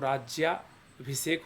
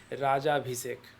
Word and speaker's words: राज्याभिषेक: से इसको लिखते हैं क्योंकि राज्याभिषेक का जो उच्चारण होता है वह राज्याभिषेक होता है ना कि राजा अभिषेक ठीक है इस तरीके